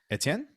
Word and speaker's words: Etienne: to be pronounced because we're pronouncing it the french way because we have some